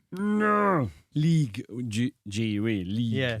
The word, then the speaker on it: Ligue: League G-U-E, League Yeah.